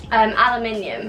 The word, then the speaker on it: aluminium: Aluminium. Oh yeah, we say it the same. Americans say aluminum. Yeah, I thought you were gonna say that. No, aluminium.